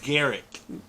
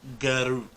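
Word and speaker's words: Garruk: Like it is Garrick, not Garuk.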